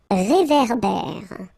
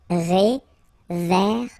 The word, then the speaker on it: réverbère: So here you get this accent aigu, et, and then here you get this accent grave, eh. Okay, et, eh. So it goes like réverbère.